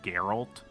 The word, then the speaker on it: Geralt: Is that how you say it, right? Geralt. Yes.